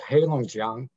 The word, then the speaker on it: Heilongjiang: the province of where it's located it's called heilongjiang and it's uh it means basically a black